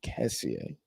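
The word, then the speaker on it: Kessié: Kessie.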